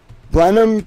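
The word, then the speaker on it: Blenheim: Bennham Palace, Winston Churchill's home in mid March of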